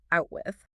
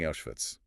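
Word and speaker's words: Auschwitz: She says it's called Out with. And again, the pinhole cameras at work here. She's mispronouncing Avitz.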